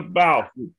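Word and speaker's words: Balfe: I can't pronounce the woman's name. Is it Kate? It's Catriona. It's Katrina Bauf. Katrina Bauf.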